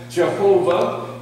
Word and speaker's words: Jehovah: And some people pronounce it Yahweh, some people call it Jehovah or Yehovah. And that's really because the word is actually YHWH. There are no vowels in it.